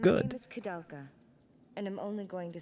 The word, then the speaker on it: Koudelka: is Koudelka, and I'm only going to say this once. Koudelka, so that's how we don't pronounce forget.